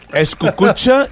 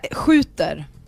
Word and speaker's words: skjuter: Seriously, eskukucha is a word in Swedish. He said eskukucha now. How do you pronounce it properly? Well, skjuter.